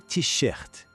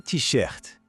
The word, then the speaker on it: t-shirt: A camiseta, em francês, eles pegam a palavra em inglês mesmo, mas dão aquele toque francês na pronúncia. Fica assim, le t-shirt. Vamos tentar? Le t-shirt. Percebe a diferença?